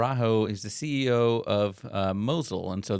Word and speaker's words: Mosyle: is the CEO of Mosul and so that is not Mozilla right yeah you know the way it's spelled is like Mosiah but it is Mozilla yeah so so what's